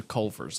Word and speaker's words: Culver's: so this is a Culver's life hack. Okay. What? So Why do you go pronounce down- everything wrong? It's Culver's. There's a V.